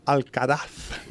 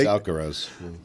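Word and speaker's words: Alcaraz: But the thing that uh Carlos Alcaraf said and again it's awkward. Well, it's not. But it No, it's Alcaros. You guys are putting the Z on it.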